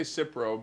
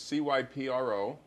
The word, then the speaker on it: Cipro: do you spell it you could say cipro but as the doctors cypro and it's such a